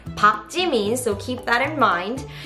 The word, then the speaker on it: 박: It's never pronounced as Park. It's not Park 지민. It's Park 지민, so keep that in mind.